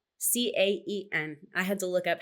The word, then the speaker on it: Caen: And I think most Americans or most English speakers pronounce it Caen or Can or Cane, but the French pronunciation is Caen.